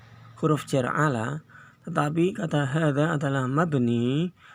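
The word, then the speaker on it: هذا: Walaupun di situ sebagai majrur atau diawali dengan huruf jar ala, tetapi kata hadza adalah mabni, maka tetap dibaca hadza, tidak hadhi, gitu ya.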